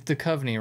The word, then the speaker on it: Duchovny: all know david dude david de chelly uh what does he say it's duchovny right yeah okay he mispronounced